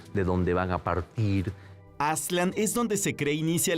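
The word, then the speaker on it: Aztlán: Lo mismo pasa con Aslan, que sería la pronunciación más cercana con Aslan.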